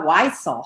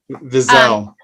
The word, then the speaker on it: Wiesel: The German, I don't think in the German pronunciation the W sounds more like a V.